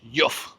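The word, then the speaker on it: Heugh: I'm reliably informed that that word beginning with H is pronounced Yuff.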